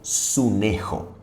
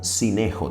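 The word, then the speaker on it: συνέχω: La palabra griega traducida por el verbo constreñir al español es la palabra griega sunejo. Puede ser pronunciada como sinejo también.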